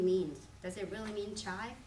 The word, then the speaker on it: Chai: So in my case, Chai, it's just how you pronounce the word in Cantonese.